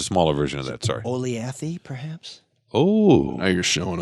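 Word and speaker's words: Olathe: Oleathy, perhaps? Oh, now you're showing off. Look at that, and you even pronounce it like the local.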